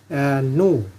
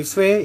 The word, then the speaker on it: nu: biasa V Ya mv^ tapi kalau anda baca ini V Ini salah ya Nah karena di sini NU ini adalah frekuensi frekuensi